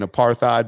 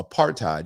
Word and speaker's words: apartheid: You don't pronounce the H. I was over here saying aparthide before and Maya corrected me. So apartheid.